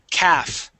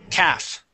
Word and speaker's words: calf: the L is silent the L is silent we do not pronounce the L we say calav caves